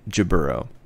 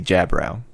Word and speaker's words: Gibbero: So in this series, the dub pronounces it Gibbero. In, I think, 8th MS team and potentially 0083, they say Jabbrow, which sounds a little cooler.